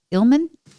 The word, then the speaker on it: Illman: that said um my guest today is ilman is that how you pronounce it your last name it is